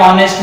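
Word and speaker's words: honest: जो एच है वो क्या है, ऑनेस्ट में साइलेंट है, ठीक है।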